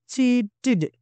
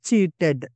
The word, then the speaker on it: cheated: Whenever we have a TED, the end of any English word, TED must be pronounced like a TID. So, cheated, not cheated.